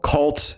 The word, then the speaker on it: CVLT: And one of the big ones you're going to hear about a lot was called Cult, spelled with a V, CVLT.